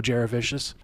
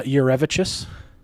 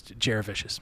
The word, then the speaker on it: Jurevicius: that's and although it's not how you actually pronounce the last name, it's Joe Jurevicius.